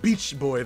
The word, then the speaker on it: Bitch Boy: It's pronounced Beach Boy, though.